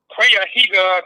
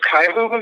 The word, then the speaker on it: Cuyahoga: and I swear to God, he calls it Cuyahoga Community College. It's supposed to be Cuyahoga Community College. So if you can't even pronounce the name of the county or the